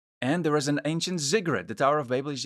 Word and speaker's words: ziggurat: across the world, building ziggurats. It almost sounds like I say a cigarette, but a ziggurat. Maybe that's a better pronunciation.